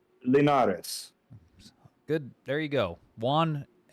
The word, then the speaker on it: Linares: Juan, how do you pronounce his last name? Linares.